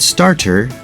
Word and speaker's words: starter: it as butter starter it's not starter but starter City not city but